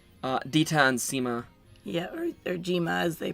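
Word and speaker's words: Zima: Yeah, or Jima, as they pronounce it.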